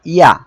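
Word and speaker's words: ي: এই অক্ষরটা ইয়া। ইয়া জিহ্বার মাঝখান তার বরাবর উপরে তালুর সঙ্গে লাগিয়ে উচ্চারিত হয়।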